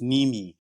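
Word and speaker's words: Mneme: It's pronounced Nimi.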